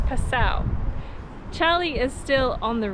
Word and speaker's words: Passau: tourist information center and they confirmed that the pronunciation is Passau so apologies to everyone who has to put up with child and and I previously saying cashew so it's Purcell Charlie is still on